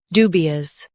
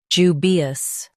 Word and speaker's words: dubious: jubious Now, read the syllables of British pronunciation shown on the screen naturally. ju bi us jubious ju bi us jubious US says do, UK says ju.